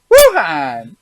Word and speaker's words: Wuhan: this article was brought out yeah thean China Wuhan China is that how you pronounce that Wuhan China Wuhan Wuhan yep now here's the thing like who okay